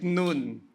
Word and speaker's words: Nun: Inexplain na ni Kuya Rodel last week na we pronounce it noon kasi ang hirap nam manganak nung nan ba. Joshua the son of noon called the priest and